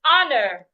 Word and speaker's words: honor: pronounce it another example is honor the H is silent as well do not pronounce it but when you have